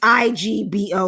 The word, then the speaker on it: Igbo: even being like being Igbo specifically I know what people want. saying it wrong. I've been saying Igbo Igbo What did I say Igbo? Yeah, the the G is like silent.